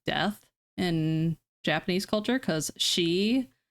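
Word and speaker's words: 四: in Japanese culture cuz she is how you pronounce four but it's also how you pronounce death four is actually my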